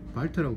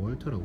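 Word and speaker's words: Walther: 버클렌코크 MP5A3 얘는 월터사 발터라고 불렀는데 당시 이제 우리 한국식 발음으로 월터라고 불렀죠.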